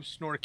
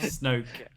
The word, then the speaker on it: Snoke: Uh, no, that's a very interesting theory on who Snork is and and um Snork. Snork. Yeah. Supreme leader Snork. The underwater breathing bad guy. Did I say his name wrong? Snoke.